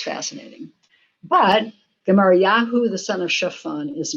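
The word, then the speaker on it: Gemaryahu: The top line, you read from right to left, says Gemariyahu. That's the Hebrew. We pronounce it Gemariah as we're reading this.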